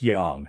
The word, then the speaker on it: Yang: If you think about it, it until Bowen Yang showed up, and Bowen, you're pronouncing your name wrong. It's Yang. It's not Bowen Yang. It's Bowen Yang.